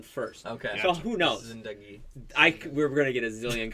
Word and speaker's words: Zindagi: I was told you're not supposed to hit the Zin hard.